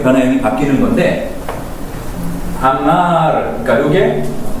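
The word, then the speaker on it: אמר: 이 아마르 이렇게 해가지고 한글처럼 아마르 이렇게 하지 마시고 이렇게 부드럽게 넘어가게 아마 이제 르를 해도 되고 아니면 더 발음이 잘 되시면 아마르를 해가지고 요게 그 떨리는 소리로 이렇게 발음을 해주시면 되겠습니다.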